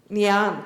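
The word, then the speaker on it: Ngee Ann: NG and Polytechnic. Nyan, thank you for the lesson.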